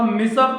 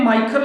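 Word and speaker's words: Miescher: मिसर था कहीं कहीं माइकर लिखा है जबकि उनका स्पेलिंग जो होता है एम ई आई एस सी एच ई आर होता है इससे चाहे मिसर पढ़िए चाहे आप माइकर पढ़िए इंग्लिश व वर्ड में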